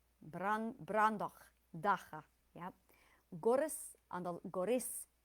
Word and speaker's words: Brandoch Daha: Brandoch daha on the first and fourth. Brandoch daha.